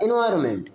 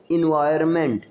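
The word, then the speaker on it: environment: But remember, it इज not good for द एनवायरमेंट, इसको क्या बोलेंगे, इन्वायरमेंट, क्या बोलेंगे, इन्वायरमेंट, इन्वायरमेंट, बोलो, इन्वायरमेंट, हाँ, इन्वायरमेंट.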